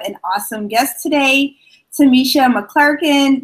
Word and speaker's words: McQuilkin: awesome guest today, Tamisha McQuilkin. Did I pronounce it right, Tamisha? Almost. It's McQuilkin. McQuilkins.